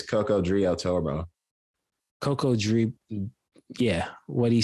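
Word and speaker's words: Cocodrillo Turbo: He dropped Cuckoo Drillo. Is that how you say it? Or I want to say it's Coco Drio Turbo. Coco Drillo. Yeah, what he said, man. Coco Drillo Turbo.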